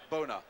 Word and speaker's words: Bonner: Donnie G to Pat Bonner boy from Donny Gaul where they tell me in fact you should pronounce it Boner anyway just let you go.